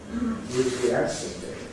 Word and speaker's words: enthusiastically: These are double stress words. Unexpectedly, we showed in the dictionary, two stresses. Enthusiastically, in the dictionary, two stresses.